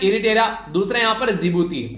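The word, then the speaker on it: Djibouti: एक तो है इरिटेरा, दूसरा यहाँ पर जिबूती, डी साइलेंट है यहाँ पर, कई बार मैं भी इसको डिजिब्यूटी बोलता था, पर लेकिन फिर इसका प्रोनाउंसिएशन जब सुना तो समझ में आया जिबूती।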